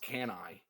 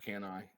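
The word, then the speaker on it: Cannae: my little Battle of it's pronounced canai can I I always thought it was can but it's can I as I watched a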